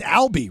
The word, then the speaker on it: Alby: the co-founder and CEO of is it it's Ali right that's how you pronounce it yep yeah but I mean you've